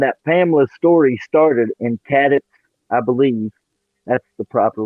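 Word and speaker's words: Cadiz: And then I found out Pamela's story started in Cadix, I believe.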